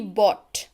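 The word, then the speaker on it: bought: खरीदना यानी कि बाय, खरीदा यानी कि बॉट, उच्चारण मैंने यहाँ पे दे रखा है, कई बार बच्चों को कंफ्यूजन होती है, बॉट है ना, इसको बॉट पढ़ते हैं।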